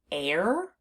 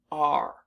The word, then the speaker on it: are: we pronounce this word r so the unexpected part of this word is the e at the end because it's not doing